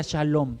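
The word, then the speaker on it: שלום: Se deriva de un término que se pronuncia shalom.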